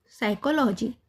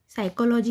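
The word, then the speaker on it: psychology: जैसे साइकोलॉजी यानी एस के पहले पी आया है तो पी का उच्चारण नहीं होगा। पी साइलेंट होगा। इसको क्या बोलेंगे? सिर्फ साइकोलॉजी। साइकोलॉजी यानी मनोविज्ञान।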